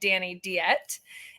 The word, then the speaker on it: Deette: there's a proper French pronunciation, and then there's the pronunciation that my family's been saying since I was born, and we're very American. So I don't think we're saying it right, but I go by Dani Deette. Proper French pronunciation, I'm told from proper French speakers, is Deette or Deette.